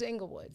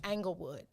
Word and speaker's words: Inglewood: entire village, which includes Inglewood. So make certain, or in my TV broadcast voice, because this is how they say it. Another thing that irritates me, angle. They say the E like Anglewood.